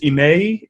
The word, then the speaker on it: Emmai: So everybody in the room knows and all out in the interwebs, my first name is pronounced Emmai. It's 3 syllables, Emmai, and last name is Alaquiva.